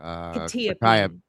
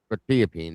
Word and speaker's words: quetiapine: Quetiapine. Quetiapine.